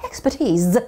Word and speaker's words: expertise: expertise. Z 발음 챙기면서 너의 전문성과 and enthusiasm.